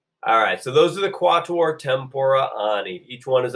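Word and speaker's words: quattuor: are quatuor tempora Anees everybody hold up four fingers and say quatuor good that is like the words you learned in French and Spanish it is three syllables long everybody four fingers up and say it cuatro or so there are quatl or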